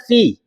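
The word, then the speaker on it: في: Oh, yang benar fi. Bukan fin. Fi.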